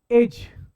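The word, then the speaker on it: edge: आता है क्या क्या आता एज तो एडज नहीं पढ़ते स्पेल्ड क्या होता है ईडीजी इसे क्या पढ़ेंगे साब एज नहीं इसको पढ़ते एज जैसे इंग्लिश में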